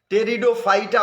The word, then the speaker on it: Pteridophyta: उसी प्रकार से यहां पर भी महाराज जी जो लिखा गया है, बच्चे जो लिखा गया है टेरिडोफाइटा उसको बोलते हैं, लेकिन स्पेलिंग होता है PTRI, P साइलेंट हो जाता है, PTRIO, PTRIDOPHYTA,